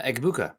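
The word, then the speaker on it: Egbuka: Um, pronounce uh the Ibuka. Who Who's the Who's the guy they took at wide receiver, Nick? Uh, Egabuka.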